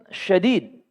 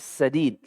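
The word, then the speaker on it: سديد: Bukan syadid. Kalau syadid pakai shin, titik 3, itu artinya keras, kasar. Tetapi yang disebut di sini sadid. Sinnya tipis, tanpa titik 3. Tidak ada sifat tafasyi. Sadid. Bahkan kita bacanya pun dengan senyum. Sadid.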